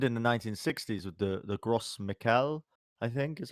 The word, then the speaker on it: Gros Michel: But this happened in the 1960s with the Gros Michel, I think is how it's pronounced.